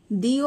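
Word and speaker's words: the: definite article দি আমরা কোথায় বসাই প্রথমে বলে দিই ডেফিনেট আর্টিকেল দি এটার কারেক্ট প্রোনাউন্সিয়েশন কি হয় যেমন ধরো আমরা যখনই কোন কিছু পড়তে যাই বা কোন সময় আমরা এটাকে দিও বলছি বা কোন সময় এটাকে দাও বলছি তো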